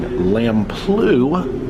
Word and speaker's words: Lamplugh: The Rangers have come back on to let us know that we are approaching Lamplugh Glacier. That is the approved pronunciation, or Lamplugh the Blue.